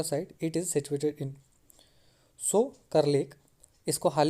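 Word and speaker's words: Tso Kar: अब ये जो होगा सो लेक, टी यहाँ पे साइलेंट होगा, सोकर लेक है, ये लद्दाख का है।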